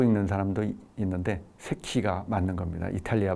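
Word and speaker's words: Secchi: 그래서 그 이탈리아 발음으로 세키라고 발음한다고 얘기를 했었죠. 미국 사람들 간혹 세치라고 읽는 사람도 있는데 세키가 맞는 겁니다.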